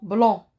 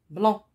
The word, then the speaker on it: blanc: ariel rien on continue le mont blanc il se termine par la lettre c il y à une lettre me est à la fin c'est le sait dont le tablier blanc ça se prononce pas